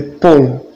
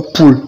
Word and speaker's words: polls: Les polls, pas poules, polls, P-O-L-L-S, tout s'écrit.